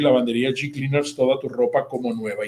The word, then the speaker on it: G Cleaners: Se escribe Hecleaners, pero dígalo como yo, G Cleaners.